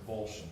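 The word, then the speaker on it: avolition: Some attorney may accidentally pronounce that as abolition. Yeah. Okay. But it's pronounced abulion, correct?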